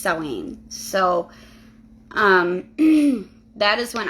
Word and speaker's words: Samhain: people call it Samhain but uh it is pronounced sewing so um that is when I feel closest